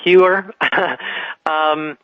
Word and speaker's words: Heuer: Before I go there, I just want to say my name is spelled Heuer, and it's pronounced Heuer.